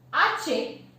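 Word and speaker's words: hache: Time बताया था कि आचे जो है वो साइलेंट होता है, कभी भी उसकी कोई भी साउंड नहीं होती है, ध्यान में रखिएगा, बिना एक्सेप्शन के।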